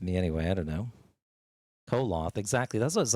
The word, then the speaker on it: Koloth: The O is silent. Well, they always say Coloth in the series.